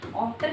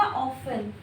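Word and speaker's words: often: ऑफ्टन नहीं, क्या होगा? ऑफन, ऑफन। टी is silent, T silent है अमेरिकन इंग्लिश में।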